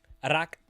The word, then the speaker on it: Arak: That's your Arak. Am I pronouncing it somewhat close, Ryan? Arak.